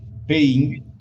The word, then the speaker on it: Peiying: i'm sorry okay uh i am saying your name correct paying hey yeah yeah answer is correct yeah it's correct great this is like paying money that's the same pronunciation okay i i remember